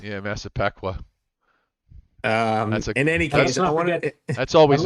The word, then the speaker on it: Massapequa: How do you pronounce that? Hapague. Hapague. Yes, Hapague. Mazapekwa. Yeah, Massapequa.